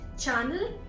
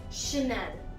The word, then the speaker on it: Chanel: Not Channel, Chanel. Now this company comes from France, so again it's pronounced as Chanel.